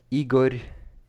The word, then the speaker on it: Igor: your opinion of him oh Igor Gerkin uh Igor here yeah that's how you pronounce it Ukrainian so this this is a